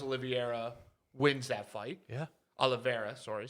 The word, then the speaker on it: Oliveira: a part of this equation it should be olivieri uh and gaiji for a wild ass fight that i i truly believe charles oliveira wins that fight yeah oliveira sorry saying it wrong uh i think that's